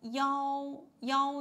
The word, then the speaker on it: 幺: Yeah, we read 幺幺 not 一 Okay, 幺幺幺三八五幺八九七六二三 One more time.